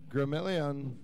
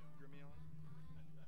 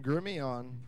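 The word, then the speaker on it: Gremillion: know that's how it's spelled, but it said it's French. It's Grimion. Thank you. All right, so a little correction on the pronunciation. Sorry for butchering your last name. So Dorian Grimion. I believe silent L's.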